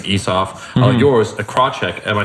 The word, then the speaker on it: Krawcyzk: But it'd be pronounced Krawcyzk.